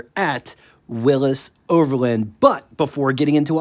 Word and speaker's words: Willys: below after the show according to Wikipedia Willis is the correct pronunciation 1950 Willis model lineup